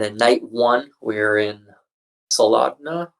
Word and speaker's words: Soldotna: And then night one, we're in Soldotna. I don't really know how to say it. It's Sold O-T-N-A. That's how you spell it.